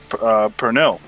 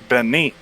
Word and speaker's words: pernil: One of the most popular Puerto Rican dishes is pernil. But the way my family pronounced it was benni.